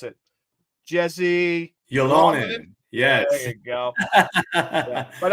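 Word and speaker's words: Jesse Ylönen: You say it because I can't pronounce it. Jesse Yolonen.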